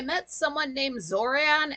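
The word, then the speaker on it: Xoran: Um, if you see an X at the start of a name, it's pronounced like a Z.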